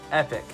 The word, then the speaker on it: epoch: epic EPOC H and this is what the pronunciation sounds like epic just like you would pronunciate the word epic